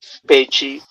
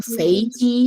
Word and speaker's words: 飞机: How do you say planes? Because all of you have heard it correctly. 飞机，飞机， Oh no. 飞机， No. First tone. 飞机.